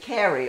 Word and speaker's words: curry: It's curry, but in Italian, even though we spell it the same, we pronounce it curry, almost like the name.